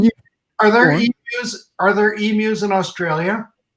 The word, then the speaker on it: emu: And it's emu. If you could try and think of Emu. and then you, like hello, me, and you. So emu is sort of how we pronounce it.